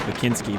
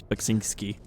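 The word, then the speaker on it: Beksiński: sink ski painting here i used to always say his name is makinski but i'm pretty sure it's bakzinski polish artist luis is that you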